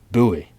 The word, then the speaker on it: Bowie: buoy or Bowie apparently it's actually pronounced buoy because of the guy it was named after the knife so anyways the frontier buoy let's get this thing